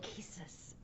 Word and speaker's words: Lachesis: How do you pronounce that? What were you going to say? So it's Clotho, Lachesis, and Atropos. Lachesis.